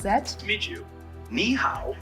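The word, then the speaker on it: nǐ hǎo: pronounce that meet you niow is pretty straight forward to pronounce it sounds like me how just make sure to keep the KNE part high and then go down and pitch on the how the model clearly makes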